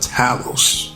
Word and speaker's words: Talos: The Tower of Talos. That's how you say his name.